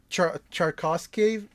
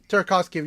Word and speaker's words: Tarkovsky: There's also a movie, I haven't seen it, but it's a film by Tchaikovsky. Is that how you pronounce his name? Tarkovsky? Tarkovsky, yeah, where he actually like set the horses on fire.